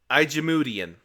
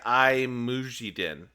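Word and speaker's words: IJmuiden: did that right I looks like I didn't do it right you're supposed to say I muiden or I they're giving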